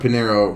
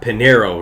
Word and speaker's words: Pinheiro: Luana Pinheiro, right? That's how you say it, Pinheiro? Yeah.